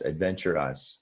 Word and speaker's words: adventurous: Adventurous, by the way, is an adjective now, and it has 4 syllables. So if you look, the last syllable, you really, like I was saying, you just say us, adventure us, and adventures is 3 syllables.